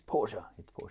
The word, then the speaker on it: Porsche: He told me off for calling it Porsche. He said, it's Porsche, getting told off by a 10-year-old for my pronunciation.